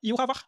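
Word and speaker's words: Yhwach: vai mais errar agora se você for querer seguir a pronúncia baseada na parte do hebraico aí esse h não é mais mudo ele passa a ser ra E aí o nome dele passa a ser iar ou então vocês decidem aí qual é pronúncia que vocês querem adotar iar ou ivar eu aqui vou chamar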